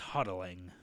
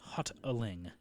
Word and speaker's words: Hotaling: they pronounce it yeah the T makes a D sound something like that yeah spelled differently than how it sounds yeah it's it's hotaling it's hot aing that doesn't sound as